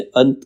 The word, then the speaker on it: अंतः: इसका उच्चारण की तरह इसका उच्चारण ह की तरह होता है जैसे अंत का उसपे हमने विसर्ग लगा दिया तो अंतः हो जाएगा ह आ जाता है ठीक है अब